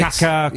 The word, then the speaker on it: Kaká: It's pronounced Kaká, is it? Kaká.